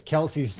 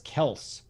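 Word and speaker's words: Kelce: to tell everybody that travis kelsey's name is really travis kels everybody know that today did you see that is it really i did no way his real name is travis kelsey goes people call me kelsey but my real name is kels i just went with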